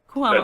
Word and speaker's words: Cuomo: Now you're collaborating with Grammy winning producers, I'm going to say his name wrong, Bill Cuomo. Did I say it right? Cuomo.